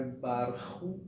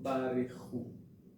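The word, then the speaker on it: ברכו: Então, não é Barhu, e sim Barehu.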